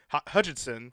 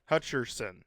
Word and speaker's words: Hutcherson: that is that is Josh Hutchin Hutchinson Hutcherson Hutcherson Hutson Hutcherson that's it is I always say his name wrong but yeah he was